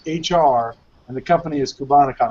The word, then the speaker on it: Cubanacan: and the company is cubanacan and I hope I'm pronouncing that correctly yeah you got it right perfect Nathan why do